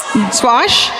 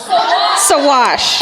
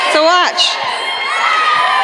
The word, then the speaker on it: Saguache: Sawash. Sorry. I'm sorry. You're saying this is pronounced Sawash? S-A-G-U-A-C fucking H-E? Oh, the whole world, it's all silent. The whole last half is silent of it.